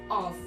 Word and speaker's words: of: Voltando à pronúncia, repete comigo, of. Tem um sonzinho leve de V, não tem som de F.